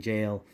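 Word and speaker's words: gaol: him in a jail which is spelled with a G back then like uh the you know like the Oscar wild reading jail G AOL obviously it sounds like a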